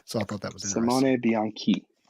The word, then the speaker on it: Bianchi: name, which is Simone Bianchi, like Key, not Bianchi. It's spelled CHI, but it's like Key. So I thought that was interesting. Simone Bianchi.